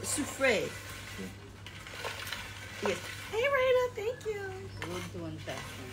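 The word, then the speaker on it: Soufrière: Soufre. You don't pronounce the R. Soufre. Soufre.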